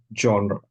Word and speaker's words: genre: I want you to try and make that more of an ah at the end chapter see all the